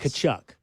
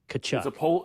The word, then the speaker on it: Tkachuk: So the T is silent. Yes. Kachuk. Kachuk. Is that right? Just forget the T. Yep. Kachuk.